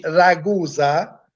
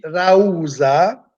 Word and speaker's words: Ragusa: Il cognome me, Ragusa, perché non si dice Ragusa, il paese nostro, si dice Rausa.